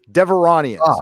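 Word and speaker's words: Devaronians: The Devari, how do I pronounce this? Devronians.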